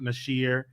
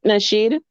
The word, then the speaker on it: Nasheed: like this man name Tariq Nashir. Did I say his name right? Tariq Nasheed.